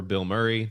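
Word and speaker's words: Bilmuri: Uh, and because I'm just such an absolute uh shill for Bill Murray, the band spelled with one word, B I L M M U R I.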